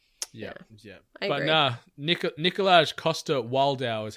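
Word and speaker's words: Coster-Waldau: it in action yeah yeah but no nikolaj Costa wildau is how you pronounce his surname how did they forget that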